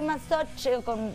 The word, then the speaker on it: Masoch: al sado, masoquismo, y masoquismo de Masoch, así se pronuncia, que es otro autor,